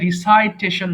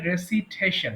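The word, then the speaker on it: recitation: আবৃত্তি সেটা আবার রেসিটেশন অনেকে ভুল করে রিসাইটেশন বলে উচ্চারণ হবে রেসিটেশন মানে আবৃত্তি করা রিসাইট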